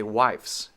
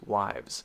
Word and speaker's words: wives: wives wives wives wives so we don't say wives it is a z sound it is wives so once again quickly